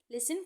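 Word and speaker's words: listen: लिसन carefully. लिसन में सुनना, टी इसमें साइलेंट होता है।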